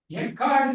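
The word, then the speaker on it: אחד: ஆனா இந்த எபிரேய மொழியில இந்த ஒருவரே என்று சொல்லக்கூடிய வார்த்தை எக்கார்ட் என்று ப்ரொனவுன்ஸ் பண்ணக்கூடிய எபிரேய வார்த்தை.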